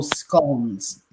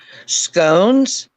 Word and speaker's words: scone: Yeah, although we say scone, but yeah, what you call I want to learn how you say it. Say it again. Scone. Scone. Yeah, like Scott, but with an N.